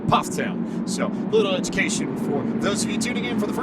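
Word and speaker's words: Pfafftown: from Ptown North Carolina it looks like paat toown it's pronounced Ptown so little education for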